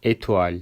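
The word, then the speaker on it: étoile: Örneğin etual sözcüğü yıldız demek e şeklinde telaffuz ediyoruz.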